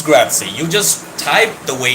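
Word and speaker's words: grazie: It's maybe cuz pizza is pronounced Yeah, like pizza. Oh, very smart of you. Then it's Gratzy.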